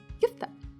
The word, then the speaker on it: kefta: As usual, I will tell you how Tunisian people pronounce it. They say kefta.